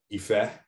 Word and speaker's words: Ife: that I'm from, you won't be able to pronounce Ife because it's a tonal language, right? So everyone, I've always been called Ife since I was born,